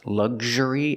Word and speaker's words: luxury: And then we have these two words, luxury and luxurious, making the sound gzh, gzh.